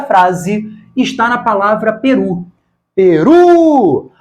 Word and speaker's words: Peru: Peru! A palavra tem 2 sílabas e a mais forte é a última. É uma palavra oxítona.